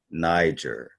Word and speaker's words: Niger: that was called Niger well they say Niger now but it was actually pronounced Niger even back then if you look this up in a for pronunciation in a concordance it would be pronounced Niger the I will be lower and not higher it wouldn't be a Niger it will be Niger so you know the